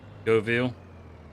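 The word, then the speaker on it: Göweil: I really like this go wheel, or go wheel, however it's pronounced. Go Ville. Go wheel. Yeah, it's like it's got a V sound to it. According to all the Germans that work at Giants.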